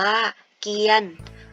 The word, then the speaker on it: เกียรติ: สังเกต นะ คะ ว่า คำ นี้ อ่าน ว่า เกียรติ และ อีก หนึ่ง คำ อ่าน ว่า เกียน นัก เรียน ทราบ ใน เค้า ว่า ทำไม คำ นี้ จึง อ่าน ว่า ดี และ คำ นี้ จึง อ่าน ว่า เกียน สังเกต ไหม คะ ว่า มี อะไร เติม เข้า มา ใน คำ ว่า เกียน ใช่ แล้ว ค่ะ มี เครื่อง หมาย ทัณฑฆาต นั่น เอง คำ ว่า เกลียด ไม่